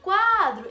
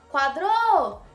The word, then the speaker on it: quadro: Em qual você se prolonga mais? Essa é a sílaba tônica. Você fala quadro e não quadrou. Tá vendo que o quá, ele fica alguns segundinhos a mais do que o dro?